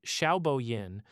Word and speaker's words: Xiaobo Yin: Led by professors Xiaobo Yin, pronounced Xiaobo Yin, and Rongwei Yang, pronounced Rongwei Yang, working alongside Gang Tan at the University of Wyoming.